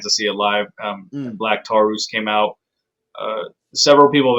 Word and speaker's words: Black Taurus: see it live um black tarus came out uh several people have asked me why his name is pronounced like that it's just in spanish that's all it is it's kind of like